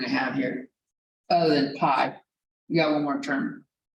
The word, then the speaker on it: pi: the symbol that looks like that and it's pi but it's pronounced like pi and sometimes they make it